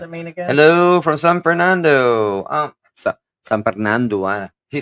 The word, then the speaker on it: San Fernando: And when Salem said that, it just reminded me San Fernando. But it's actually pronounced as San Fernando.